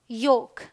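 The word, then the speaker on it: yolk: All right, ये है chalk, walk, फोक, could, should, योक, ठीक है। चलिए, एम के उच्चारण के नियम में क्या है, एम का उच्चारण जो है म होता है, प्रिटी सिंपल।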